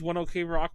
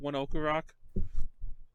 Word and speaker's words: ONE OK ROCK: That everyone says one OK Rock, but they're actually pronounced one Oku Rock.